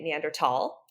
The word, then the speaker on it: Neanderthal: full scientific name and if you were a German speaker in that area of Germany at the time you would say neander tall because the th was pronounced tall um not th like an English might say um and then also